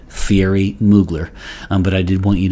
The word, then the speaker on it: Thierry Mugler: If my French pronunciation is at all close, it looks like Thierry Mugler. And so, of course, it goes without saying that a lot of people will just simply say Thierry Mugler.